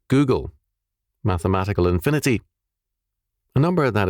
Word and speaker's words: googul: Pronounce it Google, mathematical infinity, a number that is equal to 1 followed by 100 zeros."